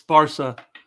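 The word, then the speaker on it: Barça: a that's a freaking it's an accent by the way it's barsa sparsha you uncultured swine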